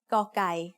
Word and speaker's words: กอไก่: The sound of กอไก่ as the initial consonant of a syllable is g. It is very similar to a hard G or an unaspirated K.